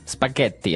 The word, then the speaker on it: spaghetti: what about spaghetti spaghetti spaghetti oh you pronounce the Double T as well that's right okay so